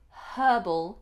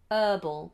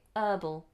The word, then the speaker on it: herbal: cup of herbal tea notice that we say herbal and not herbal Americans say herbal but in British English we aspirate the H herbal herbal okay Okay so